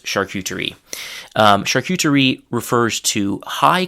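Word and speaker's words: charcuterie: So the French pronunciation is shakutri something like that. Hopefully my French pronunciation has not decayed too much in the past several years since I've spoken it regularly, but the English pronunciation is actually again pretty close. Shuterie.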